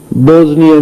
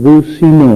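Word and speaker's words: بوسنیا: رہے تھے کہ اللہ بوزنیا میں مسلمانوں کی، اللہ منصر المسلمین فی البوزنیا، حالانکہ وہ ملک بوسینا ہے، اسلامی ملک ہے، بوسینا اس کا نام ہے.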